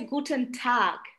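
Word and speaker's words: Guten Tag: ট্যাগ যেটা হ্যাঁ গুটেন সেটা হচ্ছে গুটেন ঠাক একটু এটা আরো লাইটলি প্রোনাউন্স করতে হবে গুটন ঠাকটা হচ্ছে সবচেয়ে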